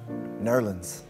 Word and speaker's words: New Orleans: piles on the self-praise jazz was born in new orleans or as it's correctly pronounced nerlins while keenan unsuccessfully tries